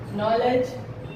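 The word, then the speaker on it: knowledge: उसके बाद एक और एग्जांपल लेते हैं हम कि अगर एन से पहले कभी भी के आएगा तो के साइलेंट होगा। बहुत सारे एग्जांपल है हमारे पास। नी, नॉलेज, नो, बहुत ऐसे वर्ड्स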